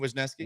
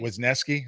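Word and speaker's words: Wesneski: You know, you have the um is it Wesnuski? How do you pronounce that name? Hayden Wizneski. Wisneski.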